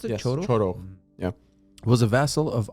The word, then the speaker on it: Chorokh: Is that how you pronounce it? Yes. Chorokh? Chorokh.